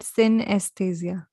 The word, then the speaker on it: synesthesia: Like Wani, how डू I pronounce it? सिनेस्थेसिया? Yeah, synesthesia.